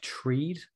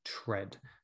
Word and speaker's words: tread: that they make that looks a little bit like treed because we have read of course but the pronunciation is actually tread to tread water so